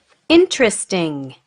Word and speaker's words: interesting: Interesting. Interesting. Okay. So how many syllables did you hear? How many? Good. Of course, it's 3. So it's not interesting. It's interesting. So it's just 2. Not interesting. Okay.